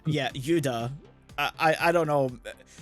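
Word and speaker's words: ユダ: Judas and went, "No, that's just the name Yuda." Yeah. Like that's not Judas. Like I know that's how it be pronounced in Japanese, but there's part of me that was like, "No."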